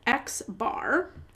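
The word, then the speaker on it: x̄: we would denote that with the uh notation xbar so I pronounce that as X bar or if it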